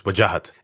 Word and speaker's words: Wajahat: So the way you'd pronounce it, if you're South Asian, is Wajahat.